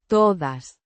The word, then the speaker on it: todas: Pronounced. Todas. The De. is soft and almost blends with the A.